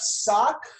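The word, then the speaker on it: ศอก: s-a-w-k to anglicize it pronounced exactly the same as what i'm not wearing and would be wearing underneath my shoes right sock and sock means elbow so verbalization we have sock for elbow tang for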